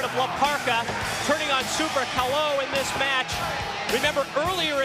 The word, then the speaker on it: Super Caló: All right, Super Calo, or Super Calo, actually the pronunciation of his name, from Mexico, making his way to the ring.